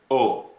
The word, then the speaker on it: ho: Okay, so in Italian, when you say O, which actually is written by H-O, so O, which means like I did.